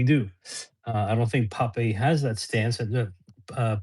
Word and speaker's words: Pape: Because there's Because there's Pepe the the Israeli Pepe the story. Yeah, yeah. Sorry. How we How do you pronounce it? Is it Pep? Yeah, just Pep. Pep. Okay. Pep. Very American.